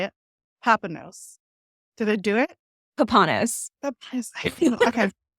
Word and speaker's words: Papanos: Papanos.